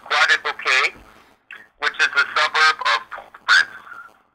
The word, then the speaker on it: Croix-des-Bouquets: Dash e s e o u q t pronounced quad bouquet which is the suburb of fr okay and